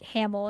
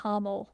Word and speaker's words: Hamel: you said they pronounced Hamill like Hamill instead of Hamel, Yes. which Hamel is how you're supposed to say it.